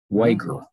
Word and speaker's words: Wager: in and she said we pronounce it in the family with the hard g wager okay it's a german